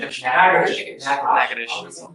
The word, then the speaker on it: Natchitoches: I butchered the pronunciation, but Natchitoches. Natchitoches. What is it? Natchitoches.